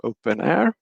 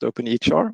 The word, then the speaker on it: openEHR: then for documentation models we use openair or sometimes pronounced openhr also which have information models